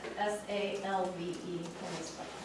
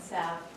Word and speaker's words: salve: But it's always been salve, but now it's becoming salve because people haven't heard it. This is that literacy thing. There's that L. We gotta pronounce it.